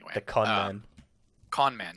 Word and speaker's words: Kahneman: actually verified that so his name is pronounced I hope come on conman yeah this is where okay